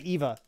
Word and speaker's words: Eva: think I think it's I'm supposed to say Eva I was trying to get that right I was so used to saying Ava from something else and then I had to listen to her say her name on the podcast or maybe Mark said her name or something just so I could make sure I said Eva correctly in the video and